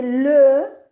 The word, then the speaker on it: les: ¿Cómo leen esto? Les. Bien, Les. bien, pero es simplemente una cosa, que la S final no se pronuncia.